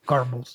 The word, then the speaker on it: Goebbels: Goebbels, yeah.